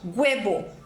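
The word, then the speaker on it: huevo: o h é mudo o chileno vai pronunciar esse H com som de G então ele fala guco uebo guebo ufano gufo e assim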